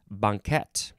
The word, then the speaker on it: banquette: Next we have banquette, and I think there's a couple ways to pronounce it, but that's the main one, and that's the one that I like.